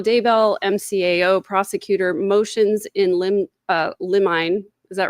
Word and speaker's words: limine: It's pronounced limine.